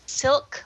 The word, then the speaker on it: Silk: It's silk, like the fabric.